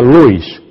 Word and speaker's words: Lewis: agnes lobis agnes cs se escribe Lewis se pronuncia Lewis y la señora el